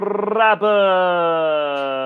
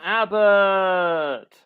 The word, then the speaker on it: Abbott: And finally, Abominable Michael Rabbit. No, actually say his name. He doesn't have an R in it. Abominable Michael Abbott.